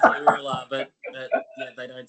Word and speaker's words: Uralla: It's actually pronounced Uralla, but yeah, they don't say that.